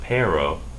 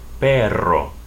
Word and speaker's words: perro: middle of a word you have a Double R so the word for dog would then be not perro but perro perro little doggy with EO